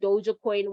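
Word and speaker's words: Dogecoin: like a dodge coin i call it dodge coin some people pronounce it dojo coin whatever or you know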